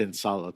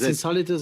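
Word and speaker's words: Insolitus: tasted some sparkling with that's not ins solit that's ins solitus as well because you're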